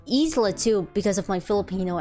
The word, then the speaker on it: isla: after all in spanish islam means my brain can't process that it's pronounced isla and no isla isla isla is island but you just gotta remember how island is pronounced i land isla i think the only